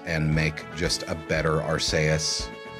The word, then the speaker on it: Arceus: Y well I'm pronouncing Arceus uh the way a latinate language would pronounce it if it were Japanese